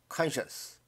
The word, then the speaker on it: conscience: 강세가 앞에 있고 발음이 쉽죠. conscience.